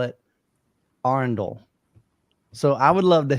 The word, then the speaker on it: Arendal: heard of your brand I began to pronounce it uh arendel and then I changed to Arendale for some reason but now I think I think I've been pronouncing it correctly so I now call